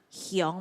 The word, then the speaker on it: 香: 比如講嗬，萬山香，嗬，香佢嘅發音係後背係 ONG 嘛，香嘛，好，所